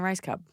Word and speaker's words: Rajskub: seen in your area thank you it's Marilyn rice Cub I learned how to say your name I